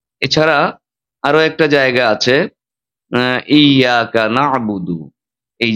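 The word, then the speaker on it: إِيَّاكَ نَعْبُدُ: এছাড়া আরো একটা জায়গা আছে ইয়াকানাবুদু। এই যে একটা জায়গা আছে ইয়াকানাবুদুইয়া। এখানে তাসদিদের কারণে আমাদের একটি ধাক্কা দিয়ে তাসদিদটা উচ্চারণ করে আমাদের পড়তে হবে।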